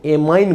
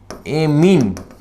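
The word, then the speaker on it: amine: एमीन में नहीं होता, इसको एमीन बोला जाता है, कई प्रोनाउंसिएशन एमाइन बोलते हैं। इसका सही एमाइन जो है इसका सही प्रोनाउंसिएशन एमीन बोलते हैं। क्या बोलते हैं इसको, एमीन।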